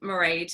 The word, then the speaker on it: Mairead: right and so I'm Mairead it's pronounced like parade but with an M and I don't mind